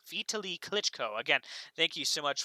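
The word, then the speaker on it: Vitali Klitschko: She says Kiev's mayor's name is pronounced Vitaly Klitschko. Vitaly Klitschko.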